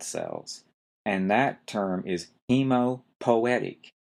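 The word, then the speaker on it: hemopoietic: for creating blood cells and that term is hemopoetic h e m o p o i e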